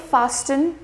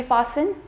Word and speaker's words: fastened: T still being silent and fastened you will not save fastin it's going to be fastened moisten you will not